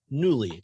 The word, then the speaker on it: Nuuly: has officially launched their rental subscription box called newly and that's spelled in you you lied because internet Lilly